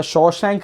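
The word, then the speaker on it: Shawshank: Critics है, जो ये वो रिव्यूअर्स हैं जो शॉशैंक रिडेम्पशन को शशांक रिडेम्पशन प्रोनाउंस करते हैं, तो उनके रिव्यूज़ की कोई वैल्यू नहीं है।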